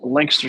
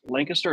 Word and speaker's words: Lancaster: think about it because how to pronounce Lancaster it's not Lancaster that's in Pennsylvania Lancaster is in South Carolina that's the old English way of pronouncing it it's Lancaster if you